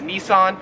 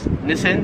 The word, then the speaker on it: Nissan: company right here so we would pronounce this in america as nissan however here in australia it is pronounced nissin number 12 is this